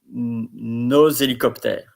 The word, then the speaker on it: nos hélicoptères: Nos hélicoptères. It's also a link because there is an H.